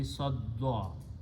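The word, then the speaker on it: صدّ: Okay, so sadda, when you combine sadada, dal, two dals will be pronounced with a shadda. So the final words will be sadda.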